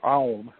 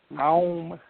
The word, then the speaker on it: Aum: It begins with the A sound, ends with the U sound, so it goes through all the vowels, and then it ends in this great hum. Aum, shall we say, is the home of everything.